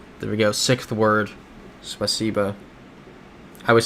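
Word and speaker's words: спасибо: Spaciba. I was saying that wrong the entire time in Central Asia. I was saying it like spicy, but it's spaca.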